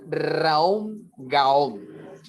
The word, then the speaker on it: Raom Gaom: Y esa retrospección la podemos acompañar con el maravilloso mantra Raom Gaom, que se pronuncia más o menos de la siguiente manera. Ra, Om, Ga, Om.